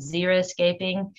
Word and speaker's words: xeriscaping: what that means so xeriscaping which i've already said it but pronounced zero escaping uh it was coined